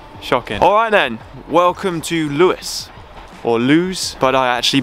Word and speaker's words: Lewes: Alright then, welcome to Lewes. Or Lewes, but I actually believe it is pronounced Lewes. Lewes.